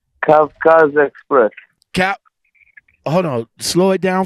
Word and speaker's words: Kavkaz Express: First off, man, how do you pronounce the company's name? Kavkaz Express. Hold on. Slow it down for me. Kavkaz.